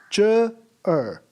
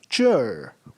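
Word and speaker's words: 这儿: We do not pronounce it as ch er. We pronounce it in a combined form, that is chur.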